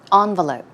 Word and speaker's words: envelope: have picked this because this word can be pronounced two different ways as you see it can be pronounced with an en sound or with an ahn sound. I prefer to say envelope.